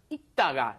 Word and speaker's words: 읽다가: Just 읽다가. The li을 발음 is not pronounced. There's no L sound. You just say 읽다가, as in when you just pronounce the basic form.